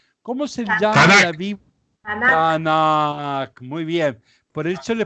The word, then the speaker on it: Tanakh: Como ellos no usan las vocales, pero ellos pronuncian Tanakh.